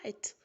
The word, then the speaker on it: kite: перше слово кітс Так але коли Ми додамо літеру ій то буде читатися яка Kite Ось така цікавинка міц